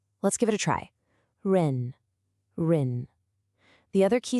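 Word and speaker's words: 人: The character is ren, and it's pronounced ren.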